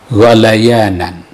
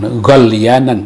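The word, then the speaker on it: غليان: Kalau maghliyi berarti fi'il madinya ghala yaghli ghalayanan, bukan ghalyanan, bukan ya.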